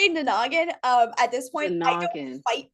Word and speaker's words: Nanagin: sudden you okay so you said the word nanan differently so we were pronouncing yes say it again for us I say nagan um at this point